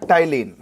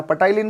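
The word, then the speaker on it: ptyalin: तो यहाँ पे एंजाइम होता है टाइलिन। कौन सा होता है? टाइलिन। इसमें पी साइलेंट रहेगा, ध्यान देना, पटाइलिन मत बोल देना।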